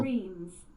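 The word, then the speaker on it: Reims: where are you let's ask Google how to pronounce this word oh gosh Google Reams Reams okay RS uh okay following Jones political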